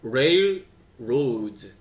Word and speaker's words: railroads: 레일로드 아니고 railroads. 레 아니고 알 발음 둘 다 R이잖아. railroads. 그치, railroads 이렇게 해야지.